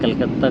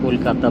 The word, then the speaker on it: कोलकाता: और अब कलकत्ता को कोलकाता बोलते हैं बंगाली में। मैं बार बार कलकत्ता बोल रहा हूँ, लेकिन इसकी प्रोनाउंसिएशन है कोलकाता।